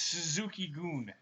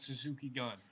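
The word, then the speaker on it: Suzuki-gun: It's Suzuki Goon. It's not Suzuki Gun. It's Suzuki Goon. Say it right.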